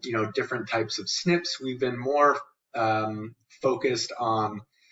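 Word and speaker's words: SNP: with the concept of single nucleotide polymorphisms pronounced snips right and so this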